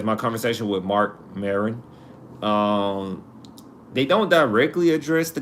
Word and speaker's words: Maron: Mark Maron, like Marilyn. It's like Marilyn Wayne, like the actor, but Maron, I believe, Maron, Maron.